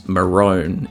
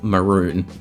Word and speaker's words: maroon: I'm not sure, but we pronounce the color that's spelled M A R O N as Marone instead of the much more logical maroon.